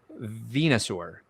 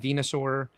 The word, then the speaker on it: Venusaur: E Platypus Unum says Venusaur. That's apparently I've been pronouncing it wrong. Venusaur.